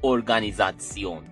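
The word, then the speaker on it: Organisation: دی کنیوگاتسیون، دی ارگانیزاتسیون. یعنی ارگانیزیشن فقط یه حالت تلفظی فرق میکنه.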